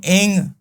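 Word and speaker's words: ऐं: मैंने नहीं पढ़ ओम एंग हिरिंग क्लींग चामुंडा विच ए के ऊपर अंग की भी ओम एंग हरिंग बोला जाएगा एंग और हरिंग बोला जाएगा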